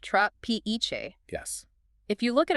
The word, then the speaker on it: trapiche: Pronounced tra-pe-che.